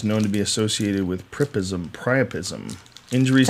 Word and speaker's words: priapism: Spinal cord injuries known to be associated with priapism. Injuries It's to the actually pronounced cerebellum.